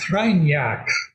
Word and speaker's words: Kreinar: It's pronounced Kreinar, Okay.